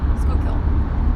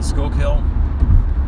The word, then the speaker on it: Schuylkill: it's schuylkill school kill smoke kill school kill school kill i don't know i guess people say it's like school like going to school you know high school school kill like fish kill yeah push kill new